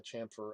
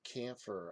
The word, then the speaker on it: chamfer: angles there and the chamfer of the edge. And, some people say, why are you calling it chamfer? It's camphor. I don't think it is. I'm pretty sure it's pronounced chamfer. I'm going to go here